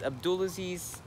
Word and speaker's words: Abdulaziz: But this is Abdulaziz, rhymes with a pool of bees, signing out of vlog number 9, I think.